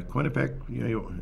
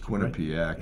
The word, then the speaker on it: Quinnipiac: wouldn't surprise me but uh quinnipeg is that pronounced Quinnipiac yeah they deserve to win